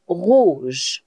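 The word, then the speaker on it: rouges: But when it will be masculine and feminine plural, we will add S with it, but it will still be pronounced rouge.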